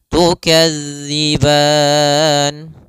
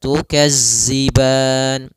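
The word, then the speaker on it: تكذبان: ditand fathah bertemu Alif tukadziban pada lafal tukadzi sempurnakan daripada makhraj huruf Dal jangan sampai terbaca dengan huruf Zai misalnya tukazziban nah ini kesalahan yang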